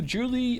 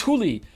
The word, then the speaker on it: Julie: Thank you, Julie. Oh no, what was it? How do you pronounce the name properly? Huli? Was it that? It was Huli.